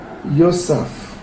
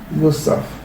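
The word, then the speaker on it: יוסף: Ça se prononce Yosaf. Yosaf.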